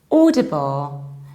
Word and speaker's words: Audible: never pronounce this like owl or oh you pronounce it like or audible exactly the same way you pronounce Auto or